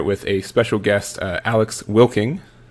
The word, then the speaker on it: Wilking: a special guest Alex will king hello that that is how you say your last name I I just be